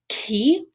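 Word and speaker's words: Chi: So this is ki, and this looks like our letter X, but it's not a x sound. This is a k sound.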